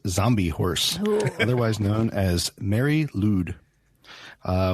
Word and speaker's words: Mari Lwyd: horse otherwise known as mary loud uh which is a welsh name it's actually spelled m-a-r-i-l-w but pronounced mary lude the name means grey